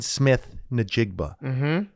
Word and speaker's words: Smith-Njigba: After my 19th hour of Locked On Seahawks, it seems like Tyler Lockett is leaving, which leaves Jackson Smith-Njigba. I said that correctly, right? You did.